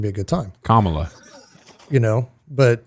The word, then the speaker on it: Kamala: it's not going to be a good time Kamala you know but KLA Harris say it right she's your vice president